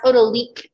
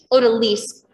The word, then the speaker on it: odalisque: I've heard some people pronounce it as odalique too, but it comes from the Turkish word, odalisque.